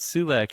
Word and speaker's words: Sulac: your name that's fine you said it right sulac is is fine but I'm I'm very